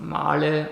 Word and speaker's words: Mahle: So I had to reach out to a specialized company in Germany that manufactures custom pistons out of Marley, or as the English-speaking spell it, Marley workpieces.